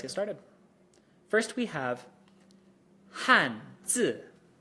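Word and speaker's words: 汉字: I want you to notice something about how I pronounced that. 汉字. My voice started at the top, more or less, of my register and fell pretty much to the bottom of it. And that's how the 4th tone is pronounced.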